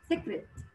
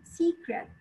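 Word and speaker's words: secret: بنيجي ننطق كلمة سر احنا متعودين ان هي بتنطق سكرت سكرت، اي حد بينطقها سكرت، وانا بسمعها كتير من الطلبة. الاي في كلمة سكرت لونج اي، سيكرت سيكرت نوت سكرت سيكرت لونج اي. فالصوت هنا هو الاي الطويلة، الكسرة الطويلة في اللغة العربية اي.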